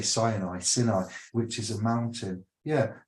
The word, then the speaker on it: Sinai: This is where we derive the word Sinai. I'm going to say Sinai, which is a mountain.